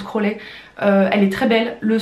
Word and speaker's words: Crosley: C'est une platine, pardon, de la marque Crowley. Ça s'écrit Crosley, mais je crois que ça se prononce Crowley.